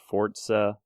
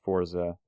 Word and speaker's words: Forza: Forza Motorsport 5, and I refuse to call it Forza. I don't know. That's how you pronounce it. I don't care so if that's how everybody pronounces it. There's no T in it.